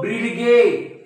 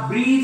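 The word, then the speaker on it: bridge: D silent जी एज हा ब्रीडगे नाही हा ब्रीज आहे काय आहे ब्रीज काय आहे ब्रीज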